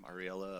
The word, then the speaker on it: Ariella: They focused a lot on Ariella. That's how you say her name, Ariella of Kulba.